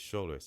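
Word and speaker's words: Shuler: never and I remember I used to say scholar it's not scholar it's Scher s h u l e r King he's very funny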